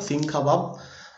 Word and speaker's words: সিংখাবাব: এর কাছে একটি হিমবাহ রয়েছে যার নাম সিংকাবাব, ওকে, সিংহ খাবাব, বানান অন্যরকম হতে পারে কিন্তু উচ্চারণটা মনে রাখো, সিংখাবাব।